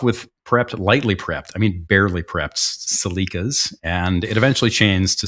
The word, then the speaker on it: Celica: They started off with, sponsored always by Toyotas, they started off with Celicas, or although I guess, Ross, can you please pronounce that for me in the native tongue of your, thank you.